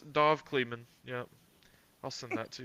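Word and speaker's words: Dov Kleiman: what his name is I feel like I just butchered that it's a it's a hard name no it is dove cleman yeah I'll send that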